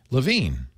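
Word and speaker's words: LaVigne: so that's oh okay deia you pronounce the last name Leo l a v i g NE Lavine oh really it was so easy yeah LaVine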